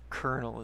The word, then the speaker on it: colonel: Seriously, I have issues with the way Colonel is spelled. Because, like, apart from the C and the N, those aren't the sounds that any of those letters make.